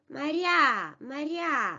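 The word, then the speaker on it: Мария: moving to R in a unstressed position becomes uh e Maria Maria well loses his quality and is close to e or even Maria Maria then yeah in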